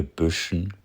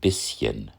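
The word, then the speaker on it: bisschen: Bush is simply the northern pronunciation of German bishen which originally meant little bite.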